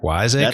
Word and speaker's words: Wiseacre: Is it pronounced Wiseacre Brewing out of Memphis? Is that right? Yeah, Wiseacre? that's correct.